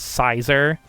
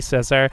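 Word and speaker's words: Scizor: Which, like, that line of thinking is why I always pronounce Scyther's original evolution as Sizer. Because, you know, Scyther, Sizer, even though I'm sure it is supposed to be Scissor, but he doesn't even have scissors.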